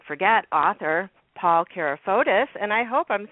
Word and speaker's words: Carafotes: So, yes, Paul Kapos is the correct pronunciation.